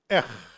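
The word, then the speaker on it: אח: Then we have Aleph and Het that is pronounced Ech. And this word means sibling, brother.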